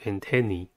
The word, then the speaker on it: antenna: episode let's focus on antenna the singular of antennae antenna has three syllables and the stress is at not at